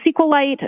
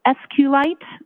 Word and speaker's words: SQLite: L lowercase i t and sqlite uh is also commonly pronounced as SQ light so both pronunciations are acceptable now once you receive